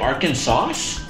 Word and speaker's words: Arkansas: Now, there's an S at the end of Arkansas. Do we say it Arkansas? How do you say it? Arkansas. Oh, we don't say the S.